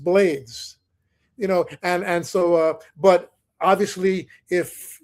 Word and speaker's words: Blades: In Spanish, the pronunciation is Blades, and we confirmed it